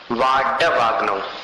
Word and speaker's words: वाडवाग्नौ: यहाँ ड जो है इसको ड नहीं बोलना। जिसे ड के नीचे बिंदी लगाकर उच्चारण करते हैं जड़, वैसा उच्चारण यहाँ न करते हुए ड, डर वाला ड बोलना है।